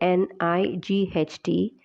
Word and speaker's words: knight: Bishop this is Knight I will say it once again for you Knight though it is spelled as K N I G HT we pronounce it as night and it is not